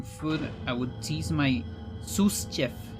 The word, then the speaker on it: sous: be a centaur chef second s in zeus isn't pronounced is like soup sous chef because french that's fine we don't